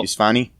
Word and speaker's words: Yousafzai: Neil Armstrong, Greta Thunberg, or Thunberg, however you pronounce that. Malala Yousafzai? Oh. Yousafzai? It's Malala Yousafzai.